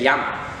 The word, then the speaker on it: llama: It's actually double L. It's a double L, and it gives you more of like an eye. So one word for eye is llama, and llama is actually call, and it's pretty cool. It sounds like llama.